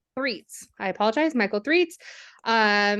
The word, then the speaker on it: Threets: honor to welcome Michael thets so how did I say your last name wrong uh Michael threatz threats I apologize Michael threats